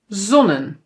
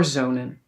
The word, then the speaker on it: zonen: We must pronounce this as mannen, redden, zonnen. But no no no no no, that's not correct. We pronounce these words as manen reden and zonen. So now it is long.